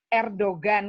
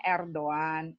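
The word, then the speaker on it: Erdoğan: Kayak kita Erdogan kan tulisannya, kita bacanya Erdogan.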